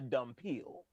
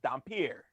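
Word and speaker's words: dhampir: to D as a dumb peel. That is not how you say it. It is Dampier.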